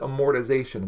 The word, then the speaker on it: amortization: formula that accidentally mentioned I don't know how it's pronounced I've heard amortization but there's no either that's crazy so I pronounce it amortization the reason I sort of do is because look at how it's spelled if you've ever taken